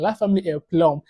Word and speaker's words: La Famille en Plomb: Yeah, I think I finally got how to pronounce a video title right, which is this one, La Famille en Plomb.